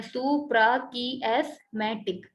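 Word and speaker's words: suprachiasmatic: ये इसका नाम प्रोनाउंस करने के लिए इसको तोड़कर लिखा हुआ है, अगर कोई ना समझ पाए तो इस तरह से इसको पढ़ सकते हैं, सुप्राकियास्मेटिक।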